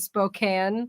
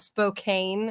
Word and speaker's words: Spokane: That they pronounce it Spokane, Oh. but not Spokane.